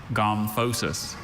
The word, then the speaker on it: gomphosis: Gomphosis. Are there any alternate pronunciations? Just the one.